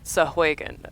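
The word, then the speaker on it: Sahuagin: Sahagwen. I think. Sahwagan. I was right, I just didn't pronounce it correctly.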